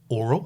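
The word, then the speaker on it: aural: And by that I mean it's oral, and that's spelled A-U-R-A-L, but it's pronounced oral, as she was humiliated to find out.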